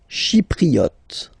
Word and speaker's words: Chypriote: Chypriote. Remember this Y is pronounced like I.